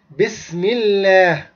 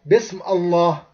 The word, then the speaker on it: Bismillah: Like for example, when you say Bismillah, you say Bismillah, you don't say Bism Allah.